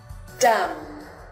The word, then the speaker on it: dumb: The letter B will not be pronounced when it comes after the letter M. For example, climb, dumb.